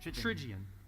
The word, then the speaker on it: Trigion: and say it again, Trigion. You're saying it right every time. Well, you know what? I kind of figure if I correct myself in advance. Okay, it's like pigeon with a T. It's Trigion, which means 3 parts.